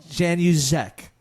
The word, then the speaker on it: Januszek: properly you mean no Jan use ech yeah that's it the Zed throws people I guess you know